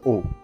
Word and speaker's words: aux: وتخلي بالكم من حاجة برضو، ان الـ AU والـ AUX نفس النطق، ما اقولش OX غلط، اقول دي O، انما اقول دي O ودي O.